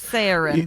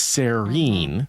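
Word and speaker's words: Saerin: how she's getting to like Serene because she's Saren, but yes. Saren, yes. But, the way I pronounce that word in my head is Serene, right?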